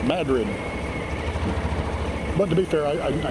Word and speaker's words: Madrid: Or Madrid, you know, is it Madrid, Spain? Not here. It's Madrid.